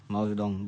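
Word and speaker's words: Mao Zedong: ये आदमी था, आई थिंक ये स्पेलिंग है, माओ जेडोंग बोला जाता है इसको, ठीक है।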